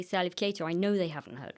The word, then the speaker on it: Salif Keita: Is it Salif Keita? Uh yeah, no, you said it right. So, Salif Keita.